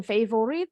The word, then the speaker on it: favorite: Ini bacanya favorite. My favorite. Jadi kalau orang bahasa Indonesia kan bacanya favorit. Di bahasa Inggrisin favorite. No, favorite bacanya.